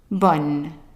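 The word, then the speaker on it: bonne: Versus the second one, we have O-N-N-E, and that's pronounced on. So how would you pronounce it? Bon.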